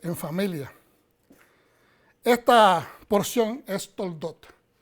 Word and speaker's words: Toldot: Esta porción es Toldot. Toledot, a veces se pronuncia.